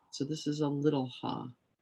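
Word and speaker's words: ه: this is a little ha it's pronounced like the h in english so i think what's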